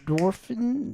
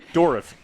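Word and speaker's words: Dourif: Dwarfin. Dwarf. Oh my God, we butchered that. What is that, Alex? You better. Dorif. Dorif, that's what it is.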